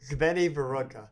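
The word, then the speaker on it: Zvenyhorodka: Zveni Vorodka. Okay. Is the right way to say it.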